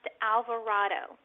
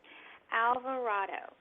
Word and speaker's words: Alvarado: as well ok well my last name is pronounced Alvarado Alvarado and they can reach